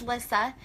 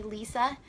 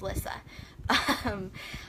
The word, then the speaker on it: Lissa: start by introducing myself my name is Lissa if you hear anyone ever call me Lisa that's not my name they're saying it wrong it's Lissa I am originally from